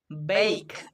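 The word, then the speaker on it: bake: আর কে ই ক উচ্চারণ হবে, শেষে ই থাকলে সেই ই সাইলেন্ট হয়ে যায়, তো এটা উচ্চারণ হবে বেক, মানে শুকনো উত্তাপে রান্না করা।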